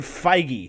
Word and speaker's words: Feige: out real quick okay this says it's Kevin Feige I mean I'm work I'm fine that's what wikipedia says Kevin Feige at capital FY - ji-hae I'm sitting over